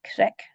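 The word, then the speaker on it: creag: So not creek, but krek. That's where the English crag comes from, or craig as well.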